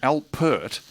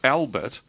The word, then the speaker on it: Alpert: uh herp his surname al pert yeah it's not albert no like the prince it's herp alpert and there's a there's an alliterative vowel sound yeah and it rhymes with uh hurt which um was i